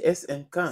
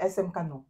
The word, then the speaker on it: SM Caen: Voilà, j'espère que j'ai bien prononcé. C'est quoi? SM Cannes. C'est SM Cannes. C'est SM Cannes.